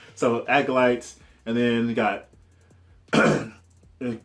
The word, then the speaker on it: acolytes: When I was a kid, I used to pronounce that occultists or something. I didn't know how to pronounce acolytes when I was young, but I kind of figured out as I got older. So acolytes, and then you got